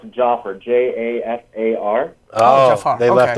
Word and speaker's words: Jafar: It's Jafar, Jafar.